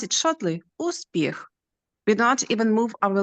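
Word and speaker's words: успіх: We don't even move our lips, uspіх. We don't pronounce like moon, just long vowel moon, uspіх. We do not pronounce Ukrainian word uspіх like in the word moon, just like in the word hook.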